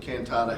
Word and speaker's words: Cantata: The scope of service is 2026 contract with Cantata Health. It's 100% county funded, and it's from 1/26 through 12/31/26. Yes, and you pronounced that correctly.